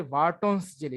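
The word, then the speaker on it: Wharton's jelly: এখানে ডব্লিউ দিয়ে লেখা, কিন্তু আমরা জানি যে যেরকম জৈব রসায়নে পড়ে এসেছিলাম, ফ্রেডরিক ভোলার, ঠিক এখানে ডব্লিউর উচ্চারণটা মানে আমরা ভ দিয়ে পড়বো, রাইট? ভার্টনস জেলি।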